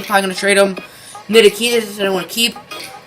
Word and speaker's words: Ntilikina: That's Kristaps and Frank Ntilikina.